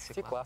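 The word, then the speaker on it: свёкла: Ну, пусть будет свекла. Свекла. Давайте услышим правильный ответ. Правильный ответ. Свекла. Да, ну. Ну да, если в слове есть ё, то ударение на ё.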